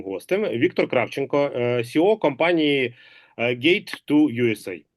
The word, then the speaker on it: Gate: з цим пов'язана тобто Gate to US GA читається з англійської як Gate тобто ворота в США